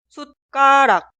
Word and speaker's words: 숟가락: Cuidado con la consonante final. Cuando la sílaba posterior de la consonante final 디귿 inicia con una D, 기역, 디귿, 비읍, 시옷 o 지읒, estas consonantes se pronuncian como sonidos forzados. 쌍기역, 쌍디귿, 쌍비읍, 쌍시옷 o 쌍지읒. Pero cuidado, la ortografía nunca cambia.